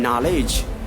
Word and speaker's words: knowledge: K is absolutely silent here the correct award pronunciation is like no knock knife night and knowledge no knock knife night and knowledge these are